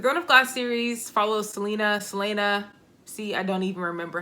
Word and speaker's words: Celaena: The Throne of Glass series follows Selena. See, I don't even remember how to pronounce her name. That's Selena.